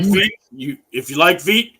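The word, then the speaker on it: Vít: Trey, from Hunter, from even Beat Critchick or whatever his name is. Beat crazy. Yeah, whatever, however you say his name. If you like Veet, it's Crushy.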